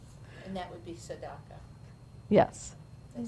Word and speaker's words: tzedakah: And that would be tzedakah.